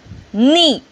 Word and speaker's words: knee: First, knee. Silent letter is K.